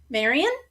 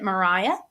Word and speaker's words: Maria: So this woman is Maria Sibylla Marian, Maria. So some people pronounce it Mariah.